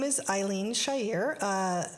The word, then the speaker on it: Chair: I married Muslim so my last name is Shyer but it's spelled chair and they screw that